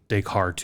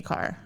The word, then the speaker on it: Descartes: their name from a philosophy book that was, a chapter of that title was Descartes to Kant.